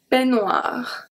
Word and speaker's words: peignoir: And this one, peignoir. EI make the sound E, exactly the same as AI.